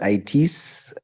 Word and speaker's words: iTiS: you've received an invitation with those letters yeah it's pronounced it some people pronounce it as its no no